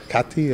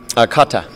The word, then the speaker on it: Kata: We're believers in the Dalai Lama and are in the Kati, if I say it right. Kata.